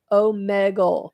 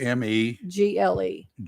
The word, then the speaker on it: Omegle: Omegle. That's how it's pronounced. OMEGLE.